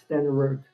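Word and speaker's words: Stenerud: I mean, the other is uh Morton Anderson than uh I can't a Jan Sten Stenug pronounce that better than I can. Sten Jan Stenroot.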